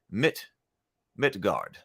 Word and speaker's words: Midgard: Also, it's pronounced Midgard. Yeah, okay, so Midgard. Got it. Yeah, I think I was using a bit more of a U sound with that A.